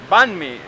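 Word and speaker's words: bánh mì: BME how do you say it B me banme yes so very famous it's a typical breakfast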